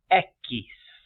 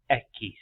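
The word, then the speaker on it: equis: name for the letter x in Spanish is Eis Eis e q i s Eis for number two number three The Vow blank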